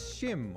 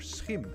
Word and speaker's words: Schim: this is it hello this is shim or schim as it is pronounced in Dutch and we are the